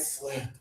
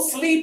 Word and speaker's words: slip: You might slip on the floor.